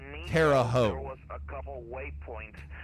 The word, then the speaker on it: Terre Haute: the state of Indiana, there is a town, a city, that is spelled T-E-R-R-E space H-A-U-T, and they pronounce it Terre Haute. I'm pretty sure that's not how the French pronounce it when they established that town, but so I needed